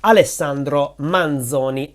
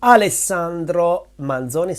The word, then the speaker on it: Alessandro Manzoni: and authors by high school Italian students is alesandro manzoni alesandro manzoni say it with me alesandro manzoni and his most famous and hated book is